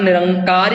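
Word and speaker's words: ਨਿਰੰਕਾਰ: वैसे असी इहदा उच्चारण निरंकार ही करना, पर जदों इहदे असी अर्थ करांगे उदों इहनूं असी इदां पढ़ सकते हैं निर आकार।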